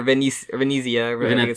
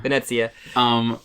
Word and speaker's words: Venezia: Like, oh, I hate they always have to pronounce cities like Paris and Venice in the American way, not like Peri or Venezia. Venezia.